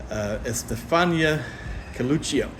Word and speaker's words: Estefania Coluccio: And I'm standing here with the director, Estefania Coluccio.